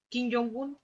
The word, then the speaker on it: Kim Jong-un: este caso, del dictador de turno, que es Kim Jong-un. Así se pronuncia, ¿cierto?